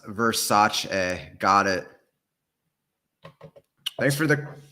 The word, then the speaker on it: Versace: It's pronounced Versace. Got it. Thanks for the correction. That's good to know. I' been pronouncing it wrong this whole time. Versace a If you got any questions, drop them